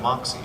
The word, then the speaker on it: moxi: So Moxi, it rhymes with Foxy.